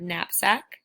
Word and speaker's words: knapsack: art spellings for today we have that in sound swelled with the letters KN in the word knapsack that's sound spelled with